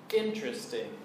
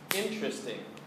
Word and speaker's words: interesting: first one is interesting interesting has three syllables and the stress is on the first syllable interesting interesting this is a common pronunciation mistake so listen carefully again interesting interesting is an adjective